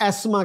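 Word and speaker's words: asthma: देर नट huge difference जहां पर फर्क था एजमा में है जैसे अमेरिकन एजमा कहते हैं ब्रिटिश एस्मा कहते हैं लेकिन वो भी टीच को साइलेंट ही रखते हैं सो अगर आप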